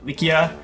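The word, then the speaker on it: Lycia: is pronounced lesion but in turkish the the word is pronounced uh likia so yeah malaysian league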